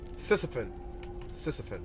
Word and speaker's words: Sisyphon: Sisyphon. Yeah, that's how you say it.